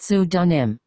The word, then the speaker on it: pseudonym: illustrated under the pseudonym dr seuss a pseudonym pronounced sue dunim is a made-up name many times authors use pseudonyms instead of their real names ted graduated from high school in 1921.